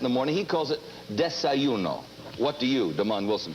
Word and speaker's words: desayuno: When a Mexican has it in the morning, he calls it, it's D-E-S-A-Y-U-N-O. I guess it's desayuno. Desayuno. What do you call it? A Mexican has it in the morning, he calls it desayuno.